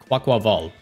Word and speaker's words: Quaquaval: By the way, I found out some of you guys are pronouncing it QUAQUAVAL or QUAQ... I don't know. Like, you guys are pronouncing it weird. It's QUAQUAVAL. There's a little bit of a rhythm to it.